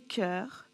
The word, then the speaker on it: chœurs: Ici, le graphème CH va se prononcer K, comme dans une chorale, des chœurs et des choristes.